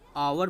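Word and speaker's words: hour: जैसे आप देखें एक एग्जांपल आपको लिखता हूँ, पॉपुलर एग्जांपल है आवर। यस तो कॉन्सोनेंट है ना, लेकिन आवर बोला जाता है आवर।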